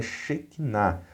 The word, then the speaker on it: Shekinah: Eu sei que não é exatamente esta a pronúncia exata, mas o hebraico não é meu forte. Então, a palavra como é falada em nosso meio é Shekinah. Talvez seja Shekhinah, a pronúncia mais próxima do correto, né?